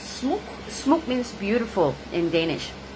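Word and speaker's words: smuk: It's not pronounced as smuck, it's smoke.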